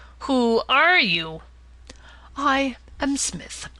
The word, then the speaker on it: Psmith: are you I am Smith said the old aonian reverently there is a preliminary P before the name this however is silent I like the tomb compare such words as Tagan Psalm and FES these gentlemen tell me